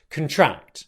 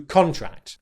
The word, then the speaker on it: contract: of here is that we put the stress on the first syllable. When we use the word contract as a noun, it's important that we stress the first syllable because we can also use this word as a verb, but then the stress moves to the second syllable, which would sound like contract compared to contract.